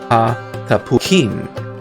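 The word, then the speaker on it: התפוחים: the transliteration is concerned, it ends with I am, or im, pronounced im. So you have ha tapuakim, the apples, ha tapukim.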